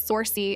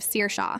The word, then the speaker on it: Saoirse: Saoirse who becomes Sorcy instead of Saoirse.